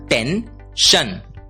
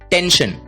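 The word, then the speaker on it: tension: होती है टेन इसलिए टी ई एन एस आई ओ एन का उच्चारण होगा टेन शन टेंशन टेंशन का मतलब होता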